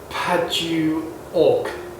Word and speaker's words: Padauk: How do you pronounce it? Padauk. Padauk, African Padauk.